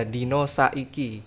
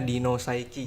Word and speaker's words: Dino Saiki: Kalau dari bahasa Jawa sendiri itu agak medok dia Dino Saiki. Cuman biasanya kalau saya perkenalan gitu, saya biasanya Dino Saiki gitu Kak.